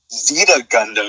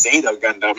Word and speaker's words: Zeta Gundam: I was like, what's Zeta Gundam? And I was like, oh no, that's not how you say it. It's Zeta Gundam.